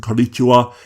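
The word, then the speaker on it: こんにちは: are you feeling today, the modern shortened greeting konnichiwa is spelt with a ha character in hiragana because it's a particle connecting konnichi to the rest of the sentence, not part of the word.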